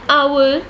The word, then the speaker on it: hour: The consonant H at the beginning of our and honest is silent. That is, those words begin with a vowel sound.